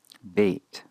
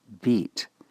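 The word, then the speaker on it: bêt: in the second paragraph bait it is not pronounced beat as you might have supposed from other uh phonetic representations but here in Hebrew transliteration the letter e with a horizontal line above it produces the a sound the third letter giml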